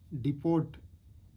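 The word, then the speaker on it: depot: लगा दिया, टू द डिपोट, डिपोट लिखना हमने सीखा है, डी ओ, डिपो है, ये जो टी साइलेंट है यहाँ पे ए वाला वॉवल लगा देंगे, डिपो।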